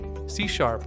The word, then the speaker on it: C#: C pronounced C is a modern object-oriented and type-S safe programming language created by Microsoft in 2000 as part of the net initiative.